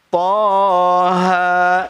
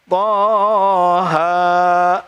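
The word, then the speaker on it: طه: Toha itu kedua-duanya tongkat berdiri, kayak gini nih. Tongkat berdiri. Berarti kalau tongkat berdiri ketukannya cuma 2. Toha, cukup. Jangan Toha.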